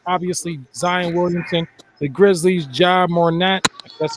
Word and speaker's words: Ja Morant: The Grizzlies, Ja Morant. That's how you pronounce the name.